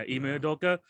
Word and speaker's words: Ime Udoka: Yeah, Ime Udoka.